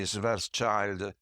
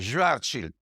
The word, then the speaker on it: Schwarzschild: I know that in America people say Schwarzschild, but anyway, I'm using the German pronunciation. Schwarzschild solution to the Einstein Field Equation.